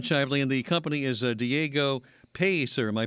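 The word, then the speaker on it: Diego Pellicer: It's Jamon Shively and the company is Diego Pacer. Am I pronouncing that correctly? Uh Piser. That's correct. Diego Piser.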